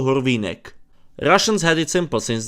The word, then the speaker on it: Hurvínek: What to call Horvine? Russians had it simple since they just took his shake name and pronounced it Russian aka Gur Veneck.